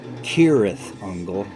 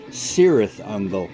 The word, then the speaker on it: Cirith Ungol: the spider in elvish tokens book pronounced it Tirith uncle with a k' but the band pronounced it cirith ungol with an S this caused some confusion with the fans who decided to pronounce the name Sara's uncle not every fan will